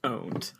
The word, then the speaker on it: pwned: Our Lord 2020 also it's never been pronounced pwned it's pronounced owned yep but I wanted